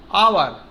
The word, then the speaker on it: hour: It will be noticed that the word hour, honest, air begins with a vowel sound, as the initial consonant H is not pronounced.